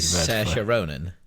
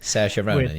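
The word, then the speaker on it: Saoirse Ronan: Sasha Ronan. Thank you. Sasha Ronan.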